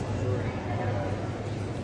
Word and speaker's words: Missouri: Louis, Missouri. How do you say Missouri when you're out there? Missouri. Really? Yeah. It's not Missouri? Some people say it like that too.